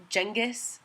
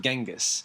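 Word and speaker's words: Genghis: wrong they call him jengis jenus jangus K yeah I didn't know that it was not genas I didn't either and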